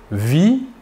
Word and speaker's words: vit: il, elle ou on vit, VIT. Nous remarquons que la prononciation du verbe est la même, vit. Nous ne prononçons ni la S finale ni la T finale.